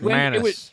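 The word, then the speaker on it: Manus: Um, and then it's pronounced Manis, too, by the way.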